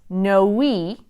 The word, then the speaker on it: Noe: no Valley like toe but in fact it's pronounced no we you pronounce that yon the end so Noe